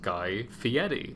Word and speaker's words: Guy Fieri: sure it's my god also fun fact on guy fieri his name is actually pronounced guy fieri for those who didn't know that oh fieri